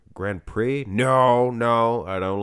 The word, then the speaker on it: Grand Prix: The X is silent. Grand Prix?